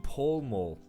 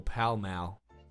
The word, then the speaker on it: Pall Mall: Drivers Club in Pall Mall or Pall Mall, however you want to fucking Yeah, pronounce Pall it.